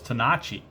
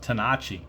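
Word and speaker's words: Tenace: you know original was tenachi but they anglicized it to to tennis but i believe it's you know i guess from italian roots or whatever it's actually pronounced tanachi but everybody calls them tennis it's just kind of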